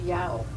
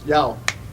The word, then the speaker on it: Yao: name, and it's pronounced Yao." Yao. And I said, wow, my dog and I howl every morning, and that's what it sounds like.